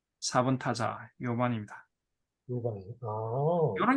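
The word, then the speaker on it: 夜半: 요반입니다. 요반. 용반이 아니고 예, 연반이 아닙니다. 오. 요반다샤. 예. 4번 타자 요반입니다.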